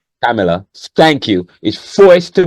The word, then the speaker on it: Kamala: What I can't pronounce her name still. Kamala, Kamala.